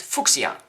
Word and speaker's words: Fuchsia: Fuchsia, if you look that up, then that name is actually, there was a German guy, and the Fuchsia color has been called after him. So he was German, his name was Fuchs, so this color is called Fuchsia.